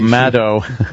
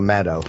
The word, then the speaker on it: Maddow: Oh, Maddow.